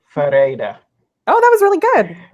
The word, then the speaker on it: Ferreyra: And how do you pronounce your last name? Ferreira. That one's a little bit more complicated. Ferreira.